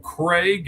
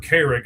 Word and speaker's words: Carrigg: You got Cole Craig, and Craig is spelled all kinds of weird, or Carrig, I guess is actually how you say it, Carrigg.